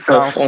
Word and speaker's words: François: By the way, Jonathan, can you back me up that I actually pronounced his name correctly because French is not my thing? It's François François.